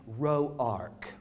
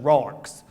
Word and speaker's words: Rourke: Them what pronounce the name Roark. Yes, they's the ones that's got money and education. These wasn't Roarks, they's just Rourkes.